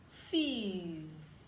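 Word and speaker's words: fils: has that sound is fees fees fizz is son in french his son and this so the l is silent we'll be learning silent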